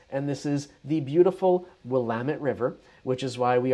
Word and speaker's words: Willamette: It's Willamette, damn it. So there you go. Is that a moniker? I hope I'm using the right word. It's Willamette, damn it.